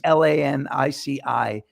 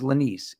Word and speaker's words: Lanese: They think Lanici is Lanice, and it's Lanici.